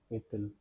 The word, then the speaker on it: est-il: Pronunciations are quelle, et, because of the liaison rule, T will get connected with this I. The pronunciation will be est-il.